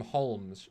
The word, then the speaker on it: Holmes: sherlock holmes fans holmes they pronounce him holmes sherlock holmes the o is a very hard o anyway your number six